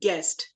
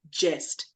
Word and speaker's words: guest: Then I noticed that a few pronunciations like buzzwords were, for example, the right one is guest, not jest.